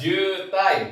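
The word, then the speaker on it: 渋滞: Bukan sibuya teman-teman ya. Yuk yang sering banget kita lihat oke di Indonesia juga sering banget ada teman-teman ya. Apa? Yes. Jutai.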